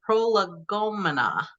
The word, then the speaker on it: prolegomena: Jefferson's notes on the state of Virginia, a prolegomena. Did I pronounce it correctly?